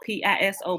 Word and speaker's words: Piso: But it's spelled P-I-S-O, but it's pronounced Piso with it's a E, P-E-S-O.